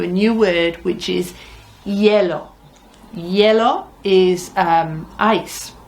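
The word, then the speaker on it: hielo: new word which is yellow yellow is um ice it's it's it's spelled h i e l o and it sounds like yellow it sounds almost like the color doesn't it so uh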